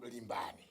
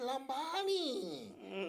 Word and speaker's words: Limbani: azungu anakupatsani amatana azungu amaipa panga pronunciation ya Limbani. Namati Lambani. Here come here Lambani. Lambani, how you doing? So another do. Sina kumaliti? Sizija. Azungu kulephera kupanga pronounce Limbani ndakachira Lambani. So ifoti zachokera kwa azungu mwati nde zenezene.